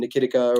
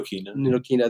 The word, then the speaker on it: Ntilikina: I mean, we got the report that Frank, I don't even know how to say his last name, Nikitica or whatever. Ntilikina, there you go.